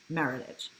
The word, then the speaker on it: Meritage: Bordeaux blend it's called Meritage Burnett pronounced like heritage Meritage I had a Bordeaux